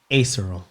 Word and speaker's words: aserual: So you can follow Jaleel at, how do you pronounce it? Acerol? Acerol.